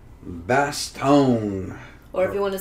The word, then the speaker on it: Bastogne: How is it in French? Bastogne. Okay. But I'm probably not pronouncing it 100%, but it's the G and E is like an N, like Bastogne.